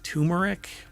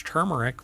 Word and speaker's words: turmeric: lot of people pronounce turmeric but it's not and I've had people when I say it's turmeric with an r and they're like there's no R in that no really because it's